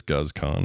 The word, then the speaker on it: Guz Khan: It is Guz Khan, right? And if you want to see Goose Khan in like things like watch British reality TV, and it's not reality.